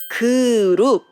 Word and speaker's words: 그룹: In Korean, it's 그룹. So it's English group. And in Korean, we say 그룹. So when you check the first syllable, it's 그 and 으 vowel. And it became 그.